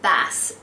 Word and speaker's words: Bass: I love the name Bass. I think it's really cool, but it could be mispronounced as bass, as in bass guitar. But who would mind someone mispronouncing their name as a cool instrument?